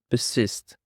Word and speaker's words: persist: Now for the fourth word we have got persist. Persist. The stress is on the second syllable.